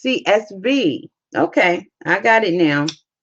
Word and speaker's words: CSV: See, I knew I was saying it wrong. CBS. It's CSV.